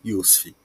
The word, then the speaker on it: Yussif: pessoal tem dificuldade Inicial Mas é bem tranquilinho iusf bem simples como se fala também eu atuo